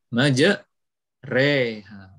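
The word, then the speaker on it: مجراها: lafadz ini ngejar oha asalnya majroha tapi kita membacanya Maja reha itu ya itu namanya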